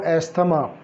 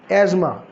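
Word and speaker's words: asthma: इसकी करेक्शन कर लें, इसकी करेक्ट प्रोनाउंसिएशन है एज़मा। इसमें TH जो है वो साइलेंट है।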